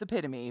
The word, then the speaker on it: epitome: epitome all the time it's the worst it's epitome but what the can i stop it i spell it i pronounce it better just because you